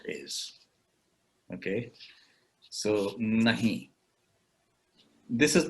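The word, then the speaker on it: नहीं: and that word is but if you really say it like no then it is nahi with the edge and where should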